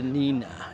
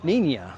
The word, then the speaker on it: Niña: This is the Nina. Nia, sorry. Na is how it's pronounced.